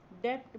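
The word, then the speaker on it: debt: interest on national president यहां silent है डेट बोलते हैं को ऋण हिंदी में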